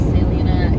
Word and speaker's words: Salina: Salina, I don't know how it's pronounced. Yes, Salina, Kansas.